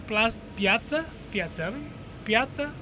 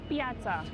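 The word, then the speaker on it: piazza: But right now, we have moved over to Santos Spiritu, which is a kind of a new plata patza. How do you say it? Piaza.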